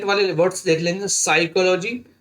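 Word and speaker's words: psychology: P silent वाले words देख लेंगे, साइकोलॉजी, देखिए साइकोलॉजी में पी साइलेंट है, और साइकोलॉजी नहीं पढ़ेंगे,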